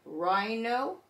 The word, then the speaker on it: rhino: Then we come down here, RH. H is silent, and we're going to hear the R in rhino, rhyme, and rhythm.